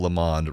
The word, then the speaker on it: Lamonde: it's our fault but please pronounce my name such that lamonde rhymes with phil the pond i thought i've been